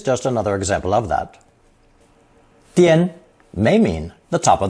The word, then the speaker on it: 颠: This combination is pronounced first tone, 颠, 颠, and means the top of the head.